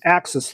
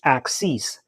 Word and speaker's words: axis: Bugout has something that's called an access lock. by axis, not the axis. If I mispronounce it, I'm sorry. It's axis as in uh a line that goes through the knife.